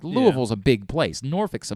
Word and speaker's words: Louisville: Now there are some like everybody says Louisville, correct? And for most of my life I said Louisville, right? Yeah. It's very much not Louisville. Is Louisville? No, it's Louisville. Louisville. That's how they say it there.